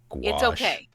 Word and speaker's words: gouache: watercolor artist who uses gouache okay gouache that's a funny word that's difficult to spell it is w a r s h wash oh Grumble well in